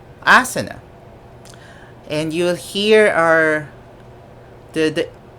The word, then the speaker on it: asana: of india would mention asan with we are used to saying it as asana or asana the pronunciation of asan is like that a silent a and stress on the letter n and so that's asan